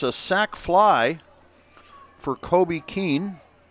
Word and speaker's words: Keene: That's a sac fly for Kobe Keene. Let me check the pronunciation on Kobe's name. Yep, Kobe Ken is what we're going to go with.